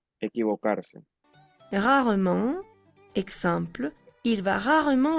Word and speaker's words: rarement: Rarement, exemple, il va rarement à la piscine. Jamais, exemple, je ne sors jamais seul. Rarement, no se pronuncia la E.